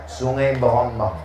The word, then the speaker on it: Sungai Berombang: Tulisannya C. Berombang. Cara membacanya Sungai Berombang.